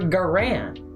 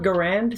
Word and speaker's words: Garand: Broken sights on your Garand. I call it Garand. Some people call it Garand.